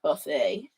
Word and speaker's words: Buffet: Songbook from Verve Records, Norman Grand and Bernard Buffet on Art USA. I almost said Bernard Buffet. It's Buffet.